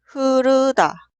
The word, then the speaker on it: 흐르다: Se pronuncia 흐르다, 흐르다, 흐르다.